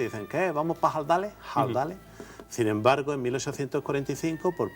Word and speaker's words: Ardales: Ardales, siempre en todos los documentos castellanos, desde después de la Reconquista hasta 1845 se ha escrito con la H porque siempre se ha pronunciado con esa aspiración. Ardales.